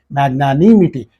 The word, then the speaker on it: magnanimity: here in this word we have to use the stress here on this third syllable magnanimity according to the Indian